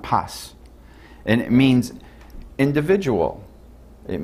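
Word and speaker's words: πᾶς: The word whosoever in the Greek is paj. Paj. It's pronounced pas.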